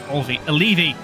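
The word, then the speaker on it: Olivi: And I do want to have you use the Olvi grass. Olevi. That's how you say it. That's how it's spelled.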